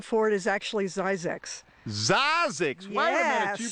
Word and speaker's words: Zzyzx: It's called Soda Springs, and the newer name for it is actually Zzyzx. Zzyzx. Wait a minute, you pronounced the road sign.